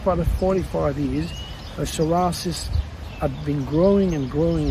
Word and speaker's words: psoriasis: an ever growing disease called sorasis spelled p s o o r i a s i s that comes from the